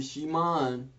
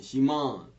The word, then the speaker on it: Shimon: Verse 3, and entering into one of the boats, which belonged to Shimon, that's Simon, but that is the Hebrew pronunciation, Shimon.